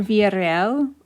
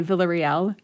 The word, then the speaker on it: Villarreal: you can say your name the way you pronounce it for me right now sure so my name is villarreal oh you can also just say villarreal if that's easier villarreal but v can you